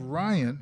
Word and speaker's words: Ryan: yeah yeah we have Ryan which rhymes with Brian uh uh Berryman he